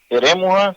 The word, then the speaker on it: Eremuha: sea, por ejemplo, Eremuja se escribe Eremuha. El detalle está en la forma correcta para escribir, pero en la pronunciación se emplea la J, Eremuja Bey.